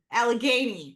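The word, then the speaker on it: Allegheny: Well, well, it's the but how do you pronounce this again? Trans alagany. Alagany.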